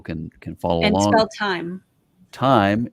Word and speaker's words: Thyme: can follow along time time is spelled t-h-y-m-e time and travel and put underscore